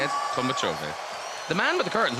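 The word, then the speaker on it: Tolmachevy: That's how you say it, Tolmachove.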